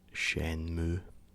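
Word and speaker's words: Shenmue: loud in game um I call it Shan mui but I've also heard it pronounced shenmu uh so however you want to pronounce it that's up to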